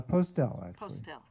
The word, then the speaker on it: Postle: your last name uh postel postel with a little bit of an accent on the tail exactly postel nice um